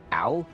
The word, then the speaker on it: Alfira: for alira it's pronounced ala with emphasis on the second syllable for quill it's quill